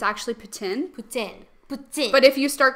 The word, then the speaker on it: poutine: see, so if you actually start pronouncing it correctly here, people are like, what? Or like with poutine, it's actually poutine.